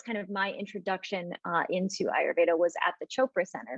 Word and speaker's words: Ayurveda: And that's kind of when I was introduced to Ayurveda.